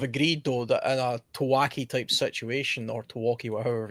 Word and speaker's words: TEOTWAWKI: Teotwawki. The O is silent. No. Yes, O silent. It's Teotwawki. Teotwawki, because we're English.